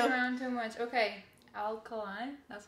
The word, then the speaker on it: Alkaline: Alkaline.